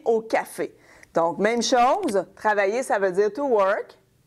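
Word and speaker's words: travaillent: Très important, remember, E-N-T is silent at the end of a verb, OK? And the S, the final S here is silent. Donc, elle travaille au café.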